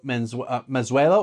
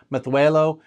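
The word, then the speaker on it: Mazuelo: So as far as I know, the proper, true, proper Basque-ish pronunciation of those two is Mezuelo and Graciano, okay? So you have like that, your tongue kind of does that, like almost like a lisp.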